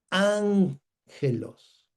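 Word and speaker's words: ἄγγελος: Cuando aparecen dos gamas juntas o una gama con una cap o una gama con una j o una gama con una j, bueno, el sonido de la primera cambia por n.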